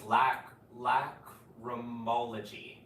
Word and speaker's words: lacrimology: So it's lacrimology is how it's pronounced.